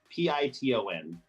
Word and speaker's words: piton: they put in I don't know how to pronounce the word uh right p-i-t-o-n itten Titan piton okay so you're standing on